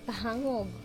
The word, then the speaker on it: Pahangog: We're going to It's Pahangog. That's what I said. Pahangog waterfalls.